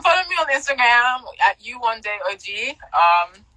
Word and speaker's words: Yewande: It's spelled Yewande. It's pronounced Youoneday, and it means mother has come back.